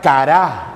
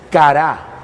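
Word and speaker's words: קָרָא: Ahora, clamar viene de la palabra hebrea cará, así como si escribiera cara, pero le pone acento en la última a. Y eso significa acosar o insistir sin desistir. Insistir sin desistir. Eso es cará.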